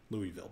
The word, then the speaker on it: Louisville: Sorry, Louisville, basically. But a friend of mine who's from Kentucky told me it's pronounced Louisville.